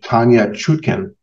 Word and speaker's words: Tanya Chutkan: Now, the judge in this case, Judge Tanya Chutkan, I believe is the pronunciation, and President Obama appointee, and the judge